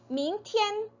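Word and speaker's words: 明天: 일자를 써서 르 하기도 하지만네 티엔이 조금 더 발음하기 쉬우니까 밍티엔 밍티엔 자 내일 무슨 요일입니까 밍티엔 싱치 싱치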